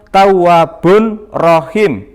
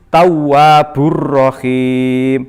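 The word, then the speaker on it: تَوَّابٌ رَحِيمٌ: Diakhiri dengan lafal tawwabun rohim. Nah, ini membacanya menjadi tawwabur rohim. Mengapa? Karena disebut bacaan idgham bila gunah. Artinya memasukkan huruf dengan tidak mendengung.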